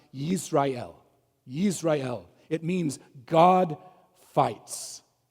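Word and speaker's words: ישראל: The name in Hebrew, it's better pronounced Yisrael.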